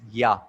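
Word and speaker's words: יה: You, He, and it is pronounced as Yah.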